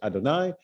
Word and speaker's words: Adonai: So some are names, some are descriptions, but God's name, generally speaking, we think of God's name as Yud He Vav He, right? The what we pronounce as Adonai, that's God's name.